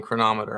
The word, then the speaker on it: Cronometer: It's Cronometer or Cronometer, but those are the only two acceptable pronunciations. I have settled on Cronometer.